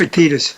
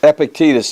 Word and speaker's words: Epictetus: the Seneca and epic ticked acai I can't pronounce Akitas epictetus there you go but those guys are transformational